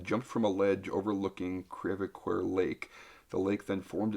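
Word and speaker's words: Creve Coeur: Crevecoeur. Okay, that's how you pronounce it.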